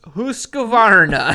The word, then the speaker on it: Husqvarna: And I think it's pronounced Husqvarna.